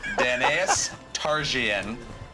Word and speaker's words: Daenerys Targaryen: I'm reading the exact pronunciation I was given. Daenerys Targaryen.